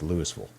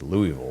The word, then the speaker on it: Louisville: louisville over the weekend if they don't say it like us lewisville is louisville there uh as we